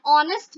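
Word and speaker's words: honest: एन ऑनेस्ट मैन, ऑनेस्ट, इसमें भी एच हमारा प्रोनाउंसिएशन इसका एच का नहीं हो रहा है ना।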